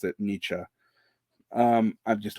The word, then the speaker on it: Nietzsche: you correct my pronunciation I realize that you pronounce it Nietzsche um I'm just not thinking in German at